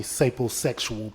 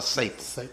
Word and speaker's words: sapiosexual: What I described to you guys is called a sapiosexual person. So let me elaborate. So, sapiosexual or sapo? Sapiosexual. How you spell it? S-A-P-I-O? S-A-P-I-O. That's sapiosexual.